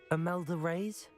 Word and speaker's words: Imelda Reyes: Imelda Reyes? That's how you say her name.